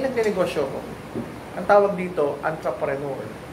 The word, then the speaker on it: entrepreneur: Ang tawag dito, entrepreneur. Ang spelling, E. Pero ang pronunciation, A. Entrepreneur.